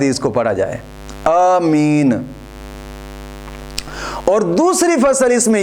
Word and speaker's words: آمین: ہے۔ اس کا تلفظ، لفظ آمین کا تلفظ الف کی مد کے ساتھ آمین اس طرح پڑھا جاتا ہے، اور حدیث پاک میں